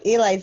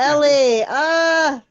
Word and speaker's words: Ellie: Jill, one day you'll pronounce my name properly. But it's Ellie.